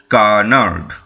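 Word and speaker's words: canard: রয়েছে সি এ এন এ আর ডি কি উচ্চারণ হবে কানার্ড কে ইউ এইচ এন এ আর ডিনার্ড রেফারস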